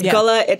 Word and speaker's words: Gullah: I mean, the pronunciation is a little bit different. On the Gullah Islands. It's Gullah. It's Gullah.